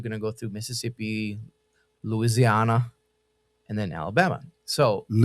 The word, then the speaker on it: Louisiana: that's when I realized like Is it Louisiana or is it Louisi? Loui- Louisiana Louisiana. Oh. I said Loui- You got to say it like Louisiana.